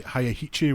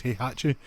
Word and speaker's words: Heihachi: think it was Hi, I was going to say Hayahichi, which was my terrible Tekken pronunciation back in the day and it just sticks with me. He hatche and was it Xbox had spawn is that?